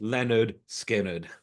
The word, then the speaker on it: Lynyrd Skynyrd: and it was called pronounced Leonard skinnard uh just for those having trouble with the fanatics but we all